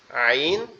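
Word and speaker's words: ع: আওয়াজ করে হবে আর এটা হচ্ছে কন্ঠনালীর মধ্যকান জি আর এটা হচ্ছে কণ্ঠনালীর মধ্যকার এখান থেকে উচ্চারিত হবে আইন এবং আমরা একটা অক্ষর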